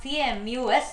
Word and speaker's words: Camus: Albert Camus, please note down this pronunciation. It's not C-A-M-U-S, it is written like, the spelling is C-A-M-U-S, but it is pronounced to be Camus, C-A-M-U-S.